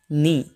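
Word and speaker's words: knee: नी कहते हैं नी यहां पर के साइलेंट होती है इसे बोला जाता है नी रन रन को इंग्लिश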